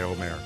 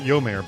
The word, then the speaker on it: Omer: It's Omer. We're just going to go by Omer, all right? Not Yomer, but Omer.